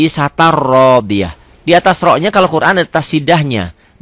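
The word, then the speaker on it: عِيشَةٍ رَاضِيَةٍ: Pemula akan baca begitu, orang bingung, orang dibacanya bener, gak ada salahnya isatan. Tapi ada ketentuan lain, ada hukum lain. Ini hukumnya idgham bila gunnah. Kenapa? Karena tanwin ketemu ro. Isatan, ya, jadi isatar rodiyah.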